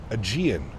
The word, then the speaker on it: Aegean: It's pronounced Aegean.